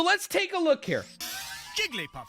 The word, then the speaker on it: Jigglypuff: take a look here Jigglypuff seem from above Jigglypuff Jigglypuff Jigglypuff seen from above you three syllables see you later idiots